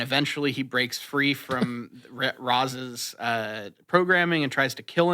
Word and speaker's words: Ra's: Just because you're right doesn't mean that you should pronounce his name like that, because that's not how they say it in the movie. Yeah, sorry. I honestly, that's just how I read it these days. They say they say Raz.